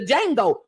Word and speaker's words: Django: Samuel Jackson from the Django the D is silent so it's just D Jango but in the meantime